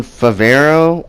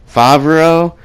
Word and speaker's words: Favreau: I don't know how to pronounce his last name. It's John Favreau or Favreau.